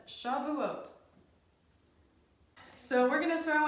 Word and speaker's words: Shavuot: again she vet I in tough that says Shavuot so we're going to throw in a bonus